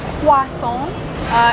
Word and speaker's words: croissant: It's not bad but you need to say more croissant insist on the croissant Croissant Croissant Okay Croissant